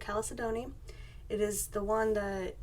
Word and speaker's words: chalcedony: I'm going to add Calais Adani which I looked up how to say it finally it's blue chalcedony it is the one